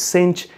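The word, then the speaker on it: sinh: to say this so if you live in America or you have American Education you say this is cinch X but if you are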